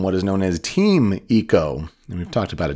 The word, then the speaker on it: Ico: about Eco in Idaho that's not how you pronounce that state I'm in I'm in Idaho and it's Ico no no no the game is Eco and the Eco is